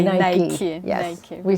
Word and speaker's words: Nike: You say Nike.